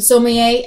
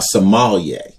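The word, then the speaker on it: sommelier: correctly the other day he said it's a somal like Somalia somal a Somalia a guy who actually did that for a living so I said well Coco you're a Somalia Somalia are we sure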